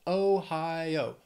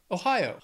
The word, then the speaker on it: Ohio: North Dakota then Ohio three syllables stresses on that second syllable Ohio Ohio let's just keep these O's